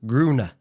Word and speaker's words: Grøne: That O is pronounced as U, Grüne. In the French word blue, yes.